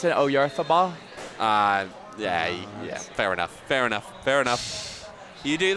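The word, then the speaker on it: Oyarzabal: You don't pronounce it Oyarthabal?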